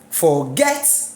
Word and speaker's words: forget: 2 syllables in it, should I put the stress on the first syllable? Forget. Please forget about. No, it does not make sense. Let me put it on the second syllable.